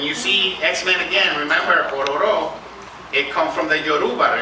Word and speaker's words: Ororo: Okay, Ororo is an African deity, but it's not pronounced Ororo. It's pronounced Ororo. Ororo.